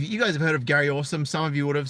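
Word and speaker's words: Gary Orsum: And yeah, so Gary Awesome, it's spelled Gary space ORSUM. So 1 R in Gary, and Awesome spelt phonetically ORSUM.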